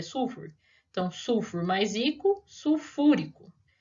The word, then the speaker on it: sulfúrico: moro mais rico bórico tem gente que a hora que vai adicionar o ico né não sabe onde está a sílaba tônica então acaba falando boiko carbônico nítrico ou sulfúrico sulfúrico e clorídrico não tem nada de seu furico tá chama o ácido